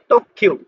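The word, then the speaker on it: 特急: তারপর হলো এই যে তো আর এখানে ছোট আছে, তাহলে এই কিউটা দুইবার উচ্চারণ হবে, যেহেতু এখানে ছোট সু আছে। তক্ষিউ তক্ষিউ তক্ষিউ মানে এক্সপ্রেস ট্রেন, অত্যধিক দ্রুতগতির ট্রেন।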